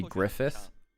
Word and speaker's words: GLFS: For instance, there is a player called GLFS, but really it kind of like in terms of the syllables he writes it out, it wants to be Griffith from Berserk.